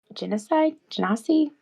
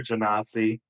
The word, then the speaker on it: genasi: She is an air genasi. I would How do we say say that? I would say Genasi myself, but I doubt there's one single pronunciation.